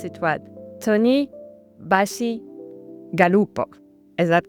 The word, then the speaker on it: Bacigalupo: Tony and you tell me again if I pronounce it what Tony Bashi Galupo is that correct Bachi Galupo you got it Galupa thank you so much